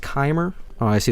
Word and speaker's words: Chimer: It's pronounced Chimer.